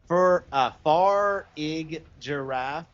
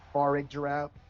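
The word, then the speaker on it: Farigiraf: How do you say it? Farig Giraffe. I think it's Farig Giraffe.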